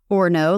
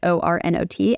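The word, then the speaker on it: Ornot: thought it was pronounced or no like the French o r n o t and then I found out it's an American company and it's actually just pronounced or not so their slogans are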